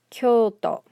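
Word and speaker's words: きょうと: you probably know it it's kyoto notice this illustrates two points that we've made in this video chisayo okay so the reason this isn't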